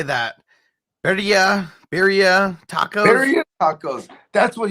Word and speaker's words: Birria: Birria tacos.